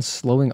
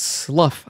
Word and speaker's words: slough: At time of death, the skin all over their bodies was covered in soores and had begun slowing off or sloing off.